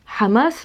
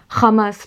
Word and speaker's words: Hamas: Donc toutes les lettres communes avec l'arabe, comme le ha, le aïn, le qaf, sont mal prononcées. Donc c'est pour ça, par exemple, que vous allez avoir des hommes politiques israéliens qui, au lieu de dire Hamas, pour le Hamas, vont dire Hamas, parce qu'ils n'arrivent pas